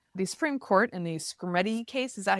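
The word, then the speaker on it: Skrmetti: The Supreme Court in the Screamy case, is that how you say it?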